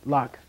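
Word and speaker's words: ལག: So ka is easy. It just turns to k at the end, right? Lock.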